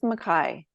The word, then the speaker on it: McKay: we get going um do you pronounce your last name McKay or Makai um let's go with maai I've pronounced it Mai my whole life but I'm actually just I've been doing some research on my last name and there's I'm looking at the possibility of of going McKay but um I was